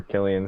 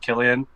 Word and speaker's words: Cillian: call him San before but his name is Killian because I've heard him say his own name